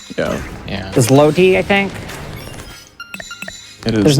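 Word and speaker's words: złoty: The Zloty, I think. it is. There's no way I Zloty. pronounced that. There's zero way chance I pronounced that right. It is the Zloty, according to the internet.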